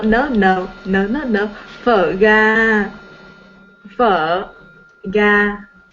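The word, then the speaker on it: phở gà: no, no, no, no, no, no, phở ga, phở ga, right? Pho Yes, ga. phở ga. Uh-huh. I had a very difficult time pronouncing the word because I thought it was pronounced pho.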